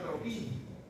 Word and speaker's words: troquín: Y el tubérculo menor se llama troquín. Troquín tiene dos golpes sílabas.